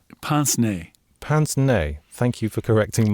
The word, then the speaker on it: pince-nez: Like pince-nez? Pince-nez. Pince-nez. Thank you for correcting my pronunciation there, which I think literally translates as pinch nose.